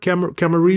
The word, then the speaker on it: Camarillo: You familiar with Camarillo? I think I'm pronouncing that right. Camarillo, Yeah, California.